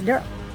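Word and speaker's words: Derle: And he plays Durl and it's spelled D E R L E. It's not Daryl, it's Durl.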